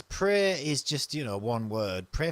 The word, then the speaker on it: Praey: It's called Pray for the Gods.